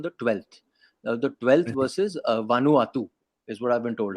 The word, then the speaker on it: Vanuatu: The 12th versus Vanuatu is what I've been told, how you can pronounce the name.